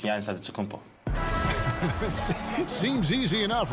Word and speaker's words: Antetokounmpo: So it's Antetokounmpo. But in the Greek way, you say it with an NT, like Antetokounmpo. Whatever you got, just say, you know, it's Giannis Antetokounmpo.